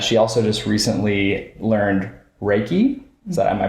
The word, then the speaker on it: Reiki: as well and she also just recently learned Reiki so am I pronouncing that right yeah Reiki yes okay perfect and we just wanted to